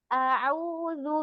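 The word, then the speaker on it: أعوذ: A'udzu billahi minasyaitonir rajim. Coba Umi to-nya dibuka lagi. Minasyaiton. To. A'udzu billahi minasyaitonir rajim. Saya ulang sekali lagi ya Umi. Tadi di awal di a'udzu perjelas hamzahnya Umi. A'udzu billah.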